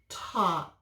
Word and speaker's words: talk: In this word, the AL makes augh. We don't hear the L, we don't say it. It's kind of like a silent letter just helping the A, but we say augh.